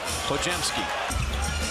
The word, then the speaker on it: Podziemski: It's pronounced Podziemski.